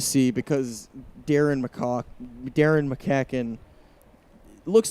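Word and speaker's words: McCaughan: Yeah, it's not the way it's it doesn't pronounce the way it's spelled. That's Sky to right. Stokes will make the catch for out number two. Yeah. Darren McCacken. McCacken. Yes. Darren McCacken.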